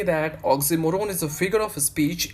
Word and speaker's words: oxymoron: speech which is oxymoron, Oxymoron. It is pronounced as oxymoron, not oxymoron, right?